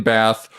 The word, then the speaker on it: Bath: The W is silent, like the P in bath, or a fart in a blizzard.